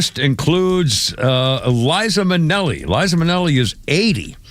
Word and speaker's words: Liza: He said, no, it's Liza.